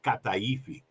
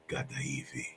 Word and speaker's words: kataifi: were eating is called kataifi. Oh yeah, kataifi. Here, you got to say it this way because you're going to be kataifi. So it's not a ka, it's a ga.